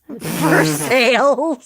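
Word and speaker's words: Versailles: Kentucky that are like Paris verses versales not Versa it's verses Kentucky is a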